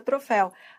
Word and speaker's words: troféu: não é a pronúncia a pronúncia é troféu Ah tá bom ferrou ferrou Por que ferrou ora porque troféu é oxítono ó troféu é oxítono terminado em U ferrou aí isso é